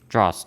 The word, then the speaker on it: Droste: Droste.